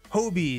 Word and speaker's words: Hobie: It's Hobie, not Hobby. Okay. Hobie Brown. That looks like Hobby. I feel like that looks like Hobby, but it's Hobie.